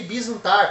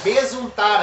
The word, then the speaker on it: besuntar: Mas eu pronunciei bisuntar, porque a gente vai falando, mas é besuntar a carne.